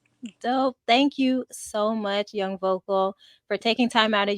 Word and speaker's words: Young Vokal: It's pronounced Young Vocal.